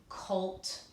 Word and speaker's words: colt: The O is going to be long, and it's going to scoop it. It's a closed syllable exception. So we say OLT, colt, olt.